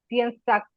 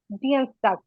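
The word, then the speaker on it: Dienstag: এরকম মনে রাখতে পারেন, শনিবার জাম্পস্টাক, রবিবার জনটাক, সোমবার মনটাক, মঙ্গলবার ডিয়েন্সটাক, ডিয়েন্সটাক, ডিয়েন্সটাক। এটা একটু কঠিন উচ্চারণ, এটা একটু খেয়াল করবেন।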